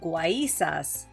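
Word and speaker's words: guaízas: these faces or figures they called guaysas with the accent on the y bar de las casas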